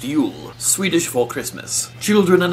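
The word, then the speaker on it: jul: used and the label cells during ju l pronounced you'll Swedish for Christmas children and adults alike in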